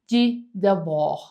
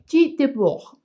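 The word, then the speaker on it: Debord: Así que el primer filósofo que te quiero platicar es G. Deb. Aquí te voy a poner el nombre porque no tiene nada de parecido por cómo se pronuncia y cómo se escribe. J de Bog es un filósofo francés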